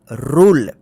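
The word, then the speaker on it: rule: ई इसको क्या पढ़ेंगे रूल देखिए रू रू उ उच्चारण हो ना रूल इसको रूले मत पढ़िए रूल जे यू एन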